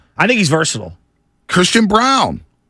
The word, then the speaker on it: Braun: think he's versatile Christian Brown it's spelled Braun but it's brown out of Kansas he